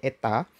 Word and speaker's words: eta: 75% efisiensi itu lambangnya n seperti ini Ini bacanya Eta 75% dan kumparan sekundernya dihubungkan ke lampu Nah